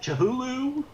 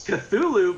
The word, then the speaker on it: Cthulhu: day and he goes how do you pronounce that chihulu and i was like it's cthulhu but that's an idea